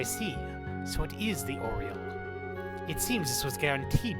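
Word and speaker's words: Aureole: so it is the oreo yeah i know i said this last time i actually looked up how you're supposed to pronounce it it's pronounced like oriole like the bird not what i was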